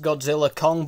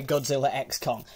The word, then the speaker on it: Godzilla x Kong: Kong the new Empire I know it's probably just pronounced Godzilla Kong but it's got an X in the title so I'm going to say Godzilla X Kong anyway let's get the